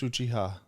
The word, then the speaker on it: Uchiha: Juice Uchiha.